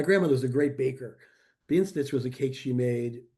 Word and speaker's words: Bienenstich: a dumpling made from flour, I guess, called bienenstich.